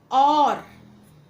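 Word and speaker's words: hour: और, H silent, और, एन आर, इसमें भी अ की आवाज आ रही है।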